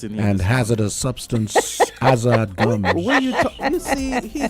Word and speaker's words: Azard: I said, before we get into problems and, you don't know how to pronounce the name, just think about Hazard. Just take off the H and you say Azard, Just Yeah, no, actually, no, it does make a lot of sense, though.